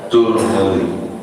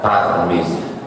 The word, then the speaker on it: Tirmidzi: Boleh juga dibaca Turmudi, boleh juga dibaca Tarmizi. 3 cara membacanya: Tarmizi, Tirmidzi, Turmudi.